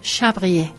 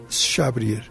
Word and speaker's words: Chabrier: y el autor es se escribe con che chabrier pero ya nos corrigió aquí eh vea que que la pronunciación es chabrier chabrier entre s y s s es chabrier Muy bien gracias bueno